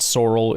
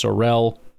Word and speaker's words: Sorrell: But that's a little more Seavon Williams to me than what Baron Sorell is. By the way, that is how you say his name. It's not Sorrel, it's Sorell, just for those wondering cuz I know there's a lot of that.